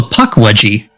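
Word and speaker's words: Pukwudgie: How do you pronounce that name? What? Oh, the name of the creature? Yeah. It's called a puckwudgie.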